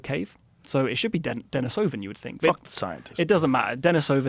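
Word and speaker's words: Denisovan: And why that's important is that Dennisovven is kind of like a sister. How do you say it? Do you say Denisovven or Denise? I say Dennisovven, but I keep hearing Denise.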